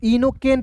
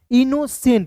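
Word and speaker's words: innocent: अब देखिए यहां पे सी का उच्चारण क के रूप में भी करते हैं तो इनोकेंट नहीं पढ़िएगा इनोसेंट यानी कि सी का उत्तर यहां पे स के रूप में होगा।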